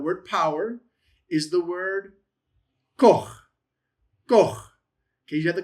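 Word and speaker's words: כֹּחַ: And then you have the patach and then you have the chet chet. So, koach. Koach.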